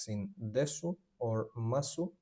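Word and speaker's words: ます: When a world word ends in s like in des or masu the u gets whispered or dropped completely written masu spoken m i is always e in Japanese.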